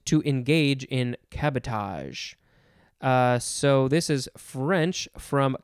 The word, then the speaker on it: cabotage: Next we have cabotage. C-A-B-O-T-A-G-E. It's like the word sabotage, but let's find out what this one means.